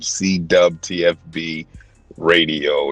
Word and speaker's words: CWTFB: I know it's spelled with a W. We say dub. CWTFB Radio.